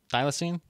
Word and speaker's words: thylacine: the wild real quick uh you said a thylacine thylacine i think i was saying it right right thylacine all right all right it's a weird name